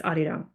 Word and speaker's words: Arirang: Sorry, I don't want to say say it wrong. It's Arirang.